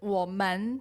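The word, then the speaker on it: 我们: I definitely pronounce "women" with the neutral tone. "nimen" is maybe sometimes with the neutral tone, and sometimes with the secone tone. We pronounce them "women", "nimen".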